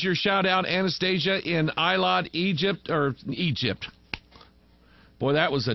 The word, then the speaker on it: Eilat: of yours in, I'm going to try to pronounce this right, Eilat, E-I-L-A-T, Israel.